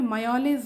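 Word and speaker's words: mjölis: इस एमजॉलिस का प्रोनाउंसिएशन यहाँ पे लिखा हुआ है राइट में मायोलिस होता है, और ये स्वीडन में कोई कार्ड गेम होता है.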